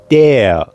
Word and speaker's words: der: And the male form is der.